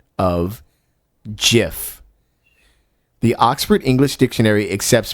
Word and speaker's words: GIF: yeah the creator of the jiff says it's pronounced jiff now a lot of people pronounce it gif but the creator said it's pronounced in 2013